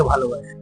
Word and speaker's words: ভালোবাসি: না যে আমি তোমাকে ভালোবাসি এটা প্রমাণিত হয় না ভালোবাসি একটা টান রয়েছে ভালোবাসি শব্দটা উচ্চারণ করতে গেলে এটা টেনে উচ্চারণ করতে হয় একটু টান দিয়ে উচ্চারণ করতে হবে নিঃশ্বাসটা একটু জোরে নিতে হবে তো সেইখানে দাঁড়িয়ে ভালোবাসা